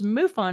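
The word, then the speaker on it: MUFON: that is admirable um so so muon if I'm saying it correctly can you tell us a little bit about that as you fo in it I know right it is muon it is the mutual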